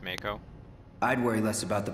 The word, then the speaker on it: Mako: help say that again also it's pronounced mako i'd worry less about